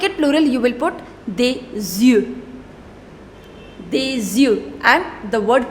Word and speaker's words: des yeux: And to make it plural, you will put des yeux.